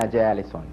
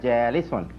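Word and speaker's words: جالسٌ: Ana jalisun. Perfect. He could have said ana jalis, but better pronunciation ana jalisun. And that's what we should do.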